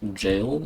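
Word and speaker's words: gaol: funny how the word spelled g a o l is pronounced jail and I understand it's Old English it's just still really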